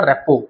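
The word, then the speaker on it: rapport: में उसको बोलते हैं रेपो ठीक है ये जो टी होता है रेपो ये नहीं होता है स्पेल ये बोला जाता है प्रोनाउंस होता है रेपो ठीक है ये टी साइलेंट है तो बिल्ड ट्रस्ट एंड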